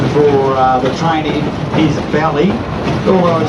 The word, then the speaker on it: Bally: me say the word belly hully the actually pronunciation for uh the training is belly although spelled b a l y it's when